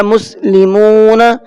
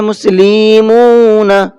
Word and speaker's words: مسلمون: غلطی کر جاتے ہیں، جیسے میں نے پڑھا مسلمون تو کچھ پڑھتے ہیں مسلیمون، اس طرح سے کر دیتے، لام کو بھی کھینچ دیا اور میم کو بھی